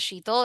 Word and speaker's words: Shital: Shital with a very harsh Indian accent, or it was Shital. So I went my whole life hearing it one of those two ways. I always introduced myself as Sheetal, and then when someone